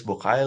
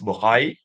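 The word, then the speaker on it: Bucaille: about one is Maurice bokai like in French I think you should pronounce Maurice buhari so he's a doctor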